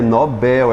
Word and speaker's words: Nobel: É Nobel, é oxítono.